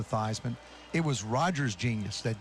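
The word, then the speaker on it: Theismann: both here today because he's really the one who changed the pronunciation of my last name from thiesman to theisman it was rogers genius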